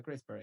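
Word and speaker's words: CRISPR: Este es un método que se pronuncia crisper.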